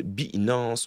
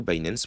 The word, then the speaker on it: Binance: Et comme on dit, jamais 203, on va parler de Binance ou Binance, prononce-le comme tu veux.